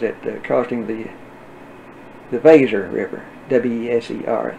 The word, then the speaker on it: Weser: W-E-S-E-R, they pronounce it Weser in German, which is not a